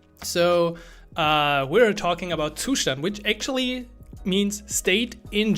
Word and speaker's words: Zustand: something like that so uh we're talking about tushan which actually means state in German so everyone